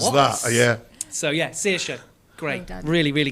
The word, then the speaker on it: Saoirse: because it was given to me on a piece of paper, and I'm like, How the hell do you pronounce What? that? Yeah. so yeah, Saoirse.